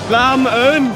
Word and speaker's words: làm ơn: Lam un.